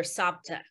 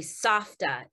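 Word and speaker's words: סבתא: my sister and i we called her sapta it's actually softa in hebrew but we couldn't pronounce it so my memories of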